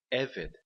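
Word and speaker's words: עֶבֶד: A palavra eved. Eved significa servo. De novo, o acento na primeira sílaba e 2 segolos.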